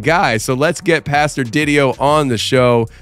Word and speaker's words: Didio: Him and I were working on his last name before we started recording, and I think he said it rhymes with video, so Didio, video, video, Didio.